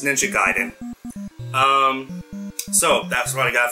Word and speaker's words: Ninja Gaiden: Gaiden for the NES people pronounce it ninja gay dan but no it's Ninja Gaiden so that's what I